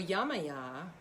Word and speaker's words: Yemaya: really yamaya was just calling to me so yamaya uh is that and that's that's um the pronunciation she she goes by several different names